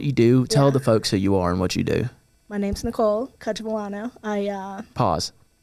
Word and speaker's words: Cacciavillano: My name's Nicole Cacciavillano. Pause. How do you say that last name? I'm like, pause. Cacciavillano.